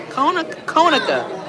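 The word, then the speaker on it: Conecuh: Konica.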